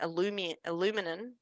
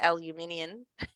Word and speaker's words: aluminium: behind it, then that's, you pronounce it aluminum, and we call it aluminium. So different pronunciation.